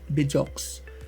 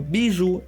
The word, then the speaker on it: Bijoux: So, it's supposed to be BU residence, not BJ. So, Biju is the right way to pronounce it and it's actually French for jewel.